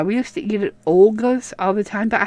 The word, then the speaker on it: Olga's: But, yeah, we used to eat at Olga's all the time. But I have trouble pronouncing things, in case you hadn't noticed. So I always call it Ogla's, even though it's Olga. I know that.